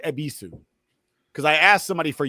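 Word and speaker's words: Yebisu: Because I asked somebody for yabisu and they were like, "What the is that?" And then I heard them say it and I was like, "Oh, it's the y is silent like jango."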